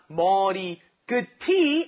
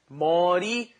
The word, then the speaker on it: 머리끝이: Pay attention to the pronunciation of this. It's not 머리 Good tea. No. Just like 같이, right? This one is 머리끝이. Yes, it's a chi sound on the end of it, okay?